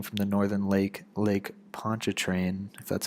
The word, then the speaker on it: Pontchartrain: New Orleans protecting from the northern Lake Lake Pontchartrain that's how you pronounce it and the southern bend of the